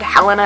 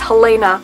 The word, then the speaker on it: Helena: spelt the same but you can pronounce the different ways it's Hellena like the My Chemical Romance song she rocks I'll link